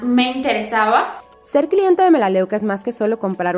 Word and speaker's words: Melaleuca: Pero la compañía que quiero presentarles el día de hoy es la compañía de Melaleuca o Melaluca, como lo pronuncian en algunos lugares.